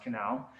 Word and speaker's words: Conal: If you go ahead and Google Robbie Conal, it's actually spelled Conal, but it's pronounced Canal.